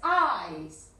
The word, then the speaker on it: eyes: Yes, eyes, eye, yes, eye, como que te pinchan, eye, yes, okay, eyes, yes, así que ojo ahí, couldn't see.